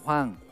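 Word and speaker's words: Hwang: ¿Cómo se pronuncia Wang? Que también hay unos cuantos. Juan. Wang. Como Juan. Juan Hechan. Ahí va. Juan Hechan. Wang. Juan. Como que fuera Juan.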